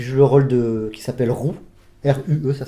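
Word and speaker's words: Rue: plus le nom, ouais, c'est ça, qui joue le rôle qui s'appelle Roux, R-U-E, ça s'écrit, donc c'est marrant, c'est Roux comme nom, ça se prononce Roux, c'est rigolo.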